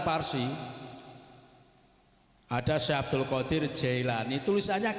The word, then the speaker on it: Jailani: Yang benar itu tulisannya Kailani, tapi bacanya Jailani. Kenapa? Karena orang Jailan masuk wilayah Iran. Kalau Jailan itu Iran, kalau Hamadan itu Irak, perbatasan. Sana itu kalau membaca kaf dibaca jim. Jadi tulisannya Kailani dibaca Jailani.